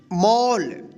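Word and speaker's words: mall: मॉल।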